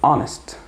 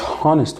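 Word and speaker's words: honest: كمان لك انت طيب اونست انطق كده اونست اونست مش هونست والله الاتش سايلنت يا جماعه اونست اونست اونست تمام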